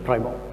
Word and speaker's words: Primo: I don't think, is it the correct pronunciation? Yeah, Primo.